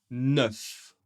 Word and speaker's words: neuf: Celui-ci, on prononce tout, pas de problème, neuf. Neuf. Le E et le U font le son e. E. Neuf. ? Un peu comme œuf.